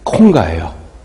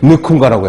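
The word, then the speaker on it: Nkonga: 잘 못하는데 이름이 조셉 콩가예요. 맨날 놀렸잖아. 너는 왜 앞에 N자가 붙어있는데 콩가냐고. 조셉 느콩가라고 해야지. 느콩가 그랬더니 애는 묵음이라며. 애는 발음하면 안 된다고.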